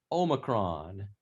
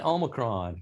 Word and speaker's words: Omicron: There are 4 different possible pronunciations. Merriam-Webster says Omicron. Omicron is the most common American, so I guess anything goes.